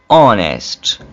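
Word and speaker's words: honest: है ये आप देखिए ऑनेस्ट ओवर ये जब ओ से पहले एच आ रहा हो तो उस वक्त एच साइलेंट हो जाएगा एच ड्रॉप कर देंगे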